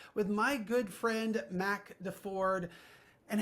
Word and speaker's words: Deford: my good friend Mac Deford. And how do you remember how to pronounce his last name? It's not the Chevy, it's the Ford, you know, it's like that's how you remember.